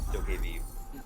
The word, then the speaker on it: Dokkaebi: It's called Dokkaebi. It's spelled D-O-K-E-V, Aw. pronounced Dokkaebi.